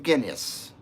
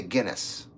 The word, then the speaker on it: Guinness: a big glass of guinas ginas is that how you say it guinas or Guinness I would say Guinness Jed says I had